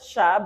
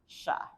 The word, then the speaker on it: siya: in the ya shya you pronounce it as shya but you you spell it as s i y a but we pronounce this as sounds like that's supposed to be an ear Okay shya all right so niya